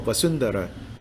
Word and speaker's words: Vasudhara: the c syllable of basundara it's pronounced in between a v and a b so appears a golden